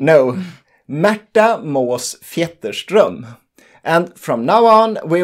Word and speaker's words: Märta Måås-Fjetterström: it again it's not a common name no matter most theaters drum and from now on we will simply call